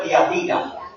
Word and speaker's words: Tiatira: Como no tiene acento, se pronuncia Tiatira.